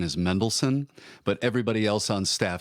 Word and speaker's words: Mendelssohn: I was told, I know that the correct pronunciation is Mendelssohn, but everybody else on staff says Mendelssohn.